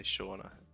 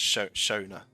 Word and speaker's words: Shona: pushed even further back so many people say shawna yeah it's shona isn't it not shawna i hope i've been